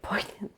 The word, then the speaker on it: poignant: That's what makes it so much more poignant. Poant.